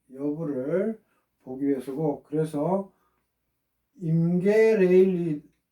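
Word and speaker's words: Rayleigh: 그래서 늘 설명했지만 레일리 넘버 이거 RA로 쓰죠. 그래서 발음은 선생님이 대갈로 치면 발음이에요. 레일리라고 읽으면 됩니다. 스펠링과 틀리게.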